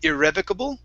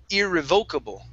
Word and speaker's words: irrevocable: one um okay so there's two ways to pronounce this word uh you can say irrevocable okay or irrevocable okay um and really in